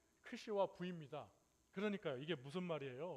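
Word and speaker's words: Ξ: 오늘 귀한 본문 말씀을 통해서 어 X라고 돼 있는데 X가 아니고 크시라고 읽습니다.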